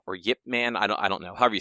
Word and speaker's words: Ip Man: about Ip Man or Yip Man? I don't know. However you say it. It's I believe it's pronounced like Yip Man, like with a Y, but the Y is very, very subtle.